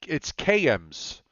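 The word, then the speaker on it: Cairns: Anyway, Anthony says it's KMs, KAYEMS, KMs. KM? Maybe I'm looking at something different. I thought it would look like. How did you spell it? CAR? CARINS. And Anthony says it's pronounced KMs.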